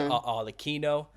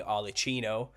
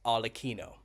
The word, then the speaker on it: Arlecchino: Kind of mash them together and you get what's known as Arlecchino, as it's pronounced in Italian. Someone's corrected me on this. I've been saying Arlecchino, but in Italian it's pronounced Arlecchino, and that's where you get Harlequin from.